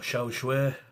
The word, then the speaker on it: char siu: And there we have it guys, some beautiful pork char siu, or xiao shui. Char siu is how it looks like it's spelled, but I got told xiao shui. Depends where you come from, I guess.